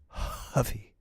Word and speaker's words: Huffy: It's pronounced Huffy.